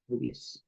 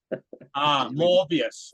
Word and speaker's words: Moebius: Am I pronouncing that right? MOEBIUS? Yes. MOEBIUS. How would you say it? MOEBIUS? MOEBIUS, yeah. Not to be confused with the Marvel superhero with Jared Leto. Morbius, right?